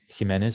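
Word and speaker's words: Jiménez: that sound for example the name jimenez actually was pronounced she men as a medieval spanish but as it changed it merged with j and g and to become the hard sound and after these ones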